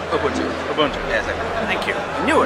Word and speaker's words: Ubuntu: it in portrait mode ubuntu i can never pronounce it right ubuntu yes thank you i knew it wrong infrared